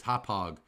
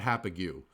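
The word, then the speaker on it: Hauppauge: that's correct that's exactly how you how you pronounce it and h APPA gue is is hauppage not happy you okay that's out that's out near main all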